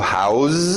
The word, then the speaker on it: house: Eu mudo esse som no final. A escrita não muda. Mas a minha pronúncia, to house, é um verbo, é dar abrigo para alguém.